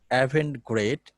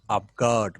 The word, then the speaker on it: avant-garde: The pronunciation avant-garde is a Latin word, and the pronunciation is not avant-garde, it is avant-garde movement.